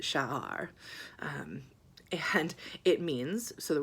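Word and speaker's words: שער: So I saw this word, and it was 3 letters, and it's Shin, Ayin, and Resh, and you pronounce it Sha'ar.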